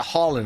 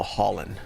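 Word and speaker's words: Haaland: Is it Holland? I'm sorry. Double A is pronounced with an O. Holland. Erling Holland.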